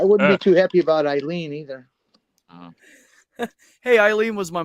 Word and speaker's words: Eileen: Just remember, people, if the word has some sort of Germanic influence, it's pronounced by the second vowel. That's why Eileen is Eileen, because it's EI, and it has Germanic history. Yes. Okay, but if it would be IE, it would be Elaine.